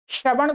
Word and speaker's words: श्रवण: ये आ है भाई, ये श्रा है, सरा नहीं है, सर भी नहीं है, श्रा श्रा, श्रवण कुमार।